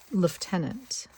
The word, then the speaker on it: lieutenant: her ties to Britain, she says lieutenant, right, which is the way the Brits say it. And of course, we She's been spent her whole life in Canada pretty much. So we were always like as we were always like there's no F.